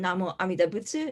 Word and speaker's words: Namo Amidabutsu: tradition originates from japan the japanese pronunciation namo amidabutsu is what we recite and we often